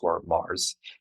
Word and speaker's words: Marrs: Instagram it's just Mars and so my name is you pronounce it like the planet but it has two RS so m r r